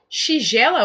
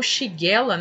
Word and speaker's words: Shigella: principalmente Escherichia coli, Salmonella, Shigella ou Shigella, então também tem uma pequena variação de pronúncia, tá?